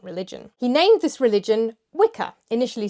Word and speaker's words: Wicca: He named this religion Wicca, initially spelled W-I-C-A, then by the 60s standardised to W-I-C-C-A. Wicca, W-I-C-C-A, or Witcher in its original pronunciation, is an old Anglo-Saxon word for a male witch.